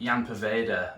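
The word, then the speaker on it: Ian Poveda: So firstly, Jan Poveda, and that is how you pronounce his name, it's not Ian.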